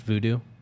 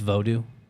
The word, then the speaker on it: Vodou: It's not actually pronounced voodoo. It's Vodou.